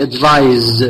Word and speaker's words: advise: And next one is, I advise with S, please. La prononciation ديالها, I advise, Z. I advise, not I advise.